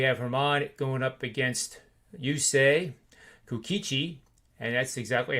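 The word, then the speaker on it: Yusei Kikuchi: But we have Herman going up against Yusei Kukichi, and that's exactly how you say it.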